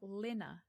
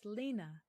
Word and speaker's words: Lena: your first name wrong I have been saying Lina but it's Lena I'm I'm a pronunciation